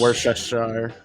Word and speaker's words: Worcestershire: Everybody's Worcestershire got- sauce.